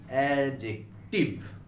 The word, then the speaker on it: adjective: দেখো এখানে ডি লিখেছি কিন্তু উচ্চারণটা হবে এডজেক্টিভ।